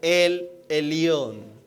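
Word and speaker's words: אל עליון: Se pronuncia más o menos así. Di conmigo, el Elión.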